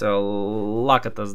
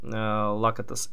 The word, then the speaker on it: Лакатос: Тоже важно последовать. Лакатос даже. Лакатос. Импре Лакатос. Всегда ударение неправильно ставил.